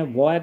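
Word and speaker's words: bivouac: इसको हम बोलते हैं वैक बोलते हैं, क्या बोलते हैं, वैक।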